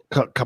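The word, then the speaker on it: Qapla': Kapla.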